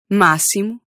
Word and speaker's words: máximo: But in other spots, it can be sh, s, or x. As in xilofone, máximo, and taxi.